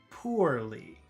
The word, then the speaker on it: poorly: Let's compare that to number two. Poorly. So that's po-war. War. So that middle sound is war.